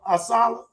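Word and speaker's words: ASALH: Jared Erso, uh, with the James Weldon Johnson branch of Assala. Did I pronounce that right?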